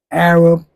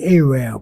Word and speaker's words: Arab: go up in these Arab shops. Y'all say Arabel, but the correct pronunction is correct pronunciation is Arab.